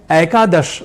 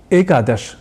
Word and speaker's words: एकादश: उच्चारण करना है तो आप उसे एकादश बोल जाएं तो अवश्य ही सुनने वाले को जो उच्चारण के प्रति या कह कि शुद्ध उच्चारण के प्रति आपसे अधिक गंभीर हो तो उसे ठीक नहीं लगेगा और एक अच्छे परामर्श के नाते वह जरूर कहेगा कि एकादश नहीं बल्कि एकादश यह शुद्ध उच्चारण होता है और आप ऐसे स्थिति